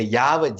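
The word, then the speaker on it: Yahweh: பட் பெரும்பகுதி ஆய்வாளர்கள் என்ன சொல்றாங்க, ஒரு குரூப் என்ன சொல்றாங்க, இதை வந்து யாவேன்னு ப்ரொனவுன்ஸ் பண்ணியிருக்கணும் அப்படிங்கிறாங்க. இன்னொரு குரூப் சொல்றாங்க கிடையாது, யாவேன்னு இதை ப்ரொனவுன்ஸ் பண்ணியிருக்க மாட்டாங்க, இதை வந்து அப்படின்னு தான் ப்ரொனவுன்ஸ் பண்ணியிருப்பாங்க அப்படின்னு 2 குரூப் சொல்றாங்க. ஆனா பைபிள் ஸ்காலர்ஸ் வந்து பின்னால வந்து ப்ரிடாமினண்டா நிறைய பைபிள் ஸ்காலர்ஸ் என்ன சொல்றாங்கன்னா, இல்ல யாவே தான் கரெக்ட் ப்ரொனவுன்சியேஷன், அப்படிதான் எங்களுக்கு தெரியுது அப்படின்னு அவங்க நமக்கு கன்ஃபார்ம் பண்றாங்க.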